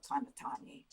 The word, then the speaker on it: Kanatani: It's the same, it's written in the same character, in Japanese character, but it can be pronounced Kanaya or Kanatani.